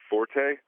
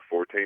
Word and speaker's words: forte: and so he says you're supposed to pronounce it Fort instead of forte and uh I've never